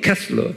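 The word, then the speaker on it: Koestler: 거기에 작가 이름을 작가 이름을 제가 아스 이제 제가요 t가 있는데 T를 내가 말을 안 해줬어요. 캐슬러 그래요. 그 발음을 캐슬러 그렇지만서 여기에 T가 숨겨져 있어요. 캐스트러 이렇게 발음하어 캐스러. 근데 이제 발음은 캐슬러 그런 거예요.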